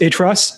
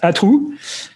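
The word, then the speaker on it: à trous: comes from the French um so it's not pronounced atas is is it's uh it's pronounced ATU and it's in theory spelled with an accent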